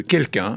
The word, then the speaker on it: Kelkun: Le grand entretien avec Grégory Valenci qui est patron et fondateur de quelqu'un.